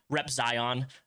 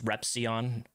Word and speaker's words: Repzion: First of all, I just love it when people say Repzion. Considering how much I say my name online, it's Repzion.